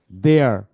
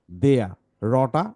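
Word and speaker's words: there: দেয়ার, দেয়ার। যদি তোমরা ব্রিটিশদের মতো উচ্চারণ করো তাহলে তোমাদের বলতে হবে দেয়া, দেয়া। রটা উচ্চারণ হবে না।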